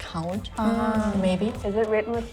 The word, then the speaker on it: hond: it's a little bit more similar to English, it's more like Hound.